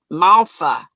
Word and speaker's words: malva: we make malva pudding you pronounce it malpha it is great comes